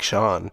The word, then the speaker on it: Shaun: This one's called Waste My Days by Shaun Angel, pronounced like Shawn.